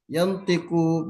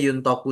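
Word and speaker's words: يُنْطَقُ: Iya, ini dibacanya yuntoku saja bukan yantiku. Yuntoku itu artinya diucapkan, kalau yantiku itu artinya mengucapkan. Beda.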